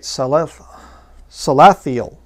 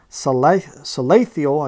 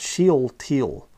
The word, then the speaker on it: Salathiel: And the sons of Jeconiah, Asser, Salathiel, I guess would be how you say it, Salathiel, his son. So it's not Sheel-Teal.